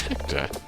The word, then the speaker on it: Hector: Hector, your name rhymes with sir, your name, your name rhymes with director.